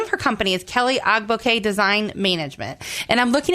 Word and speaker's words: Kelli Ogboke: Kelly Agbo. Yes, very I have it right. Okay, fantastic. So, um, we she her the name of her company is Kelly Agbo Design Management.